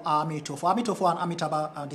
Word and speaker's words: Amitofo: you see us pronouncing Amitofo, Amitofo. Amitofo and Amitabha are the same thing. So when we chant it, we chant Amitabha, Amitabha, Amitabha, Amitofo, Amitofo, Amitofo. Amitofo is the Chinese version of Amitabha, or the Chinese translation, language form of Amitabha.